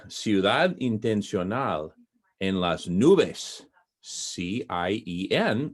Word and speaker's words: cien: intentional in las nouves c-i-e-n which spells the word cn which means 100 in spanish and it's just a very nice word cien it's one syllable now one of the